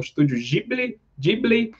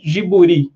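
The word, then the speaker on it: ジブリ: tem o vídeo ouvido não desse estúdio observam pronunciado de outra forma né às vezes na Europa o pessoal fala como Studios ghibli né e nos Estados Unidos pessoal para nos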